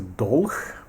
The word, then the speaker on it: Dolch: This is a doul. Yeah, that's how we pronounce that in German.